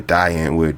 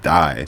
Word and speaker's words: Die Antwoord: D Antwood. De Antwood. Man, my American brain wants to pronounce it die so bad, but it's D Antwood.